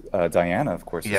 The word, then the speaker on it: Diana: I say in Italian it's just a stress so we just say Diana so we just put the stress in the eye but there is no elongation of of the eye which in fact is